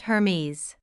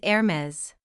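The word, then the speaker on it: Hermès: Not Hermes. Correct is Hermes.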